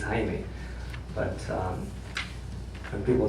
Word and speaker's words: Jaime: My real name is Jamie, but actually in Spanish it's Jaime.